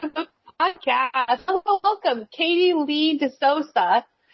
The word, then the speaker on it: De Sousa: Most people say De Sousa, but it's actually De Sousa, and you got really close.